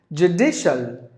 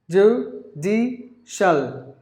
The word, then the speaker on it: judicial: this brand jojoba and the next word is judicial doo dee shall three syllables any word ends with the CIL ending should be pronounced like shallow so g-d shall judicial so judicial anything related with law so if you if